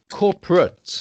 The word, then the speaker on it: corporate: a co corporate no this is called corporate not corporate corporate would be like if you have the verb to cooperate or to incorporate when it's a verb then it would be eight but here it's used as an adjective to describe the noun